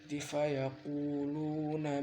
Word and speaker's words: fayaquluna: Nah, fayaquluna itu harus baca pelan-pelan. Nah, pokoknya baca pelan-pelan semua biar sampean gak salah-salah. Fayaquluna ma, kalau sama ke buru-buru akhirnya fayaqulu akhirnya kunya nggak panjang, dan itu sebenarnya bacanya panjang.